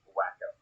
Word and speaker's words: Waco: It's pronounced Wacko, Wacko, Wacko.